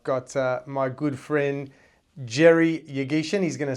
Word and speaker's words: Yeghichian: I've got my good friend Jerry Yeghichian. He's going to say that I pronounced his name wrong, I'm sure.